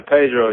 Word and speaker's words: Paidro: like that's where that's where the name Pedro come from and I spell it P a i d r o feel me that's pretty